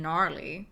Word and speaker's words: gnarly: there i do not like how you don't actually pronounce the g in gnarly like why is it there enough none of this